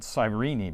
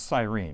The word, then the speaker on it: Cyrene: of cyprus and cyrene or maybe you pronounce it cyrini but i think it's cyrene right right you're the